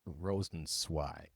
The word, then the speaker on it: Rosenzweig: Rosenzweig.